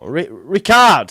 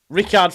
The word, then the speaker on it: Rickard: It's Rickard in Swedish, but Richard, it's the same thing.